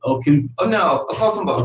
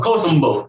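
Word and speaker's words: Akosombo: I butchered it. Okosombo. Okosombo.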